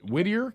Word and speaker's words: Whittier: to California is it is it Whittier California is that how you say it yes sir okay yeah what's your